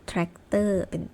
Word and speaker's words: แทรกเตอร์: เป็น ถาม ว่า สาย แต่ มัน มี คำ ยก เว้น บาง คำ ที่ ไม่ ต้อง ออก เป็น เสียง ซอ โซ่ วัน หา เช่น จันทรา แล้ว ก็ แทรกเตอร์ ต้น นั่น เอง ค่ะ ก็ จบ